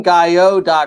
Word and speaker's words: Gayot: a this is team guy Oh calm the T is silent it what is the